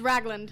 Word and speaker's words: Ragland: Do y'all pronounce it the same here in Oklahoma as we do in Texas? Ragland? It's Ragland.